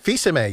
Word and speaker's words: Fils-Aimé: Well, Reggie, hard name for me. It's hyphenated, but Fizame? Fizame, yes. Fizame. Not spelled Fizame.